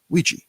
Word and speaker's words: Ouija: Well, he actually died in the manufacturing place where they were making these boards, and he renamed the board Ouija board, Ouija, yeah, and it's spelled weird, Ouija, and it's supposed to mean good luck.